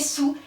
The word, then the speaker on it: saoul: En 1694, elle écrit « Saoul », on prononce « sous », et la plupart l'écrivent sans « a ».